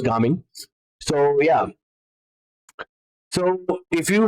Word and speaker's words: Gaming: It's actually pronounced Gaming.